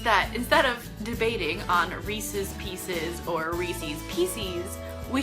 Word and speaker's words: Reese's: peanut butter chocolate treats it's called reese's pieces because as a part of your criteria it rhymes and you call them Reese's and